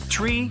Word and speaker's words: tree: It's the way pilots pronounce certain numbers in their pilot English. Tree stands for three. Five for five and niner is used instead of nine. Such pronunciation helps to avoid radio miscommunications and the confusion caused by similar sounding numbers.